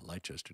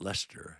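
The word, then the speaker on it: Leicester: say that right uh it's not Lester it's or is it Americans they don't know how to pronounce these names uh maybe Le it might be leester leester England but anyway it looks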